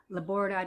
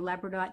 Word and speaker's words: labradorite: amethyst is really good, labradorite or labradorite, depending on how you say it, pyrite.